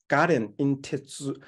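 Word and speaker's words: 我田引鉄: In Japanese, the word is pronounced as garen in tetsu, means to pull the railway into my electoral strong base.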